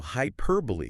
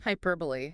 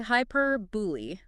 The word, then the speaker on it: hyperbole: So, hyperbole is a classic one. Hyperbole. Yeah. A lot of people say hyperbol. It's true. Yeah. But it's actually hyperbully.